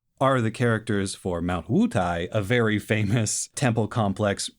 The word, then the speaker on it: Wutai: So in the episode, they say Mount Godai. In Chinese, it's much closer to Wutai.